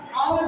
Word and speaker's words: hour: आवर भी देखिए है ना? आवर एक्स लेकिन प्रोनाउंसिएशन के बाद इसका जो उच्चारण हो रहा है आवर से आवर इसमें क्या होगा एन का।